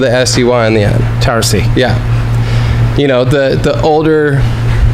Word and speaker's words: Towersey: Like a Z, but it's really not. It's S-E-Y. So Tower with a S-E-Y on the end. Towersey.